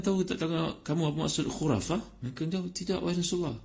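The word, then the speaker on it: خرافة: mereka tahu tak kamu Apa makna khurafat khurafah khurafat ejaannya Kha ra Alif fa ta orang Melayu Panggil khurafat khurafat Sebenarnya nama seorang lelaki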